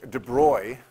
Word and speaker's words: de Broglie: model of the atom a guy named Louie de Broglie de broy it looks like de Broglie but it's pronounced a boy said that look if waves